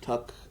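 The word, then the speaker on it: Tuk: Took, maybe? Tuck.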